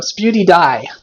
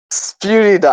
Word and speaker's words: PewDiePie: You got his name wrong though. Sputy Die. PewDiePie. I was close.